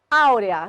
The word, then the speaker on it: áurea: Áurea, sílaba tônica de áurea, AU.